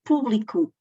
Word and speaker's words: público: E público e publico, do verbo publicar, e trabalharão e trabalharam.